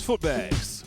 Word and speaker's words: Footbags: My name is Footbags, pronounced with the book bags.